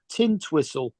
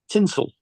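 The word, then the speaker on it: Tintwistle: as well that's funny we got here called tin twistle except it's pronounced tinsel tinel tell them about black town in Sydney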